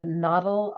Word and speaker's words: noddle: Philadelphia, can you give us the spelling of noddle, our word of the week? It is spelled N-O-D-D-L-E.